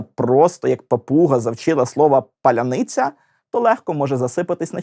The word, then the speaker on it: паляниця: твердих і м'яких приголосних спробуйте повільно вимовити паляниця відчуваєте на складі ни ваш язик і вся нижня щелепа опускається А на ця все це треба швиденько підняти назад язик має зробити такий собі кульбітик якого немає Якщо ви русня і вимовляєте паляніц ца на ні язик залишається в тій же позиції і цей кульбітик неможливо